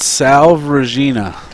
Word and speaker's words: Salve Regina: a school in rhode island how do you pronounce it yeah it's called salve regina never had heard of it yeah i didn't